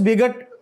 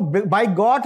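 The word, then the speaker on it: bigot: और what ever so इसको बाय गट नहीं बल्कि बिग इसी से ल बिगी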